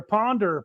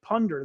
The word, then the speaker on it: Punder: Ponder Wrong, whatever Why can't I pronounce his name right all of a sudden? It's Punder. There we go. Punder with a U.